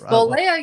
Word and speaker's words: Bolea: It's Bolea.